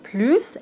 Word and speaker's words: plus: On arrive à la troisième situation, quand le mot plus est synonyme de encore ou bien more en anglais. Ici, on doit prononcer le S. Plus, par exemple, tu en veux plus? Oui, j'en veux plus.